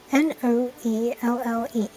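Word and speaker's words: Noelle: N-O-E-L-L-E. Noel. I guess I'll just pronounce it like that for English.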